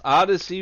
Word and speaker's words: Odyssey: Eastern we will be on OD ysy pronounced odyssey radio with a new show for you to